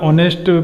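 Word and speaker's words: honest: तो यहाँ पे ऑनेस्ट में हमारा एच साइलेंट है, इसका ऑनेस्ट प्रोनाउंसिएशन है, तो यहाँ हम लगाएंगे एन।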